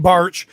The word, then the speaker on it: Bartsch: wonderful nate bear and nate barrich i knew i was going to say it wrong nate bartsch and the horsemen have